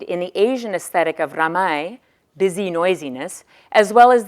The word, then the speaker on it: ramai: the Asian aesthetic of ramai, busy noisiness, as well as the Islamic valuation of hearing as knowing and of listening with the heart. The phenomenon of ramai, R-A-M-A-I is how you would pronounce this, translated as busy noisiness,